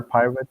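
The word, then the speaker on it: PyRIT: Also from Microsoft, one is called Pirate, interesting enough, but not like the R pirate, but Pirate, RIT, but pronounced pirate, that Mhm.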